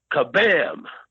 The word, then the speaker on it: Kabam: called Uh it is called I want to pronounce this right Kabam I keep wanting to say Shazam but it's